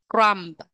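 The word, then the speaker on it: crumb: là tội phạm Criminal crum crum crum các bạn lưu ý chữ B ở trong cái từ Crom này được ghi nhưng không có đọc Crom Crom đó lý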